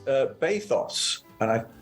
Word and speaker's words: bathos: um but it's uh bathos and I it obviously rhymes with pathos okay and I I